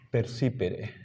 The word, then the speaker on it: percipere: Completemos aut percipere. ¿Ya? La fuerza de voz va acá. Percipere.